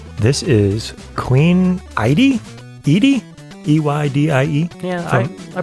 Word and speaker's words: Eydie: E-Y-D-I-E? Yeah, I pronounce it Eydie, but whatever you want to do.